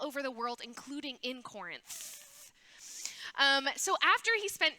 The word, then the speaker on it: Corinth: called Corinth everybody say Corinth did you make sure you got the th on the end the th yeah good good okay just making sure you're saying it right Corinth like a t so Paul's life had